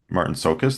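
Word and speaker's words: Marton Csokas: I can't pronounce the guy's name who plays Trevor Goodchild. Martin And Sokus. Martin Sokus, there we go.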